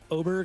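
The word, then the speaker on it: Åberg: ludvig Berg LV abber LV AB aberg oberg is how you say it actually okay ludvig oberg ludvig oberg oberg with an A okay uh he's plus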